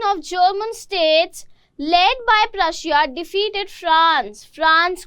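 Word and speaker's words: Prussia: की बजाय कुछ जगह ना प्रशिया इज प्रशा। अगर तुम लोग गूगल बाबा के पास जाओगे, ट्रांसलेट करके देखोगे, प्रोनाउंसिएशन चेक करोगे, तो प्रशिया को ना प्रशा लिखा गया है, बट I stick to प्रशिया, easy भी लगता है ना। तो प्रशा इसकी ब्रिटिश और अमेरिकन एक्सेंट में है, बट हम लोग प्रशिया बोल रहे हैं, तो ये मत बोलने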